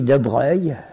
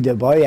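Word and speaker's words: Broglie: Et je savais que ça s'écrit de Breuil, B-R-O-G-L-I, mais que en italien, ça veut dire imbroglio.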